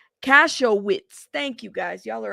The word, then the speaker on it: Kasowitz: what do y'all think how do you say that name cashwiz cashwiz cashew yeah see I'm I'm pronouncing the K like Katz thank you ctz crotch I would have said crotch Donnie uh Mark crotch Mark crotch cashow witz thank you guys y'all